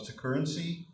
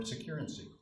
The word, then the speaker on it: Securrency: Jeff Truitt is the Chief Legal Officer of Securrency, or Securrency. I'm told that both pronunciations are possible.